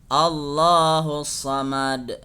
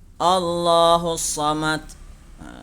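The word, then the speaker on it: الصمد: diperhatikan I am ke Begitu juga dengan Hai kalimat sesudah Allah ya Hai allahussomad dibaca Qalqalah lagi memantul ya Jangan nanti huruf Dal yang ada di ayat Hai as surah al-ikhlas ini membacanya seperti membaca huruf ta Contohnya bagaimana Hai kulhu allohu ahad Allahu Somad itu adalah bacaannya yang salah ya yang salah maka yang benar harus dibaca memantul karena huruf Dal adalah salah satu huruf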